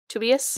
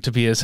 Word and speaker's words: Tobias: Tobias? Yes. Tobias Forge? Yeah. Like, it's almost like a and an eh at the same time.